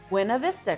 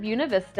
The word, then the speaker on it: Buena Vista: will likely be reading this and thinking it's pronounced buav Vista Colorado well locals pronounce it buav Vista I want to get that out of the